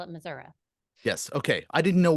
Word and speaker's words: Missouri: and then I realized you pronounce the state differently in different parts of the state. So I don't want to get it wrong. How Missouri. I say Missouri.